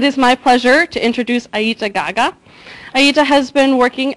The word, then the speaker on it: Eyita: So my name is Eyita. It's actually pronounced Eyita. Since my mother's here, I'll pronounce it correctly.